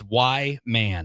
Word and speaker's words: Whyman: It's Whyman.